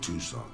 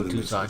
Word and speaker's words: Tucson: and ended up in tucson not two sun by the way things were good there i realized how tucson should be pronounced i